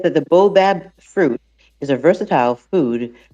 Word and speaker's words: Baobab: Baobab.